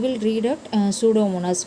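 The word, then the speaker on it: Pseudomonas: ஸோ you will read out சூடோமோனாஸ். P is silent okay.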